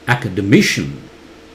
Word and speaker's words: academician: Academician. It's me louder. And C-I-N, T-I-N, T-I-O-N, everything's pronounced as shun, not shian. Okay?